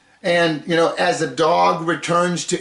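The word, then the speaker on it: דָּג: Now I I began this talk by saying calling it Jonah and the dog. What? Well, the Hebrew word for fish is pronounced dog.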